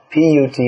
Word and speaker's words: put: As Srila Prabhupada pointed out, you'll find in English B-U-T is pronounced but, P-U-T is pronounced put.